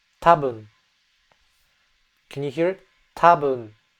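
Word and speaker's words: 多分: Tabun. That N sound is very very subtle.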